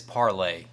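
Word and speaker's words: Parler: you can use well it's parlay but i call it parlor it's spelled parlor but it's parlay uh mines parlor gab's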